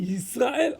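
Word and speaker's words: ישראל: One pronounced Yaakov, good, and one pronounced Yisrael, okay, good.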